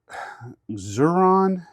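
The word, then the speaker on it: Xuron: Uh, then I've got the the I don't know how you pronounce that or zuron. I know X can be pr pronounced as a Z.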